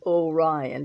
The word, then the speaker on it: Orion: me started with orion everyone said oh ryan but i always say orion i don't know why but i always pronounce it that way the first time i